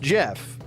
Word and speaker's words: Geoff: I'm talking about, is it Jeff? Do you really pronounce that Jeff? Geoff. It's pronounced Jeff.